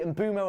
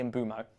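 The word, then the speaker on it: Mbeumo: Obviously, the the Embumo and Burmo one gets me. It's definitely Embo, but Benjamin is here.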